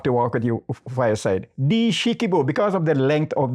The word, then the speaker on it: Essequibo: Dishikibo, because of the length of these rivers. That has been distorted from Dishikibo to Essequibo because of the problem of the pronunciation. So it means walk with your fireside.